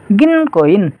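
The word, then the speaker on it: 銀行員: यो उ छ नि यो उ चाहिँ साइलेन्ट हुन्छ। साइलेन्ट हुन्छ यो उ को चाहिँ उच्चारण गरिदैन कसरी उच्चारण गरिन्छ त यो शब्दलाई भन्दा गिनको कोइन गिनकोइन है उ चाहिँ साइलेन्ट हुन्छ।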